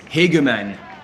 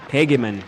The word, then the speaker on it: Hegeman: And thanks to Mark Fleischer in the chat helping us with the pronunciation. It's Hegeman. Hegeman.